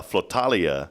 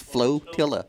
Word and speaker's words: flotilla: don't sweat it uh falia of SE did I say it right it's flotilla flotilla yeah what are you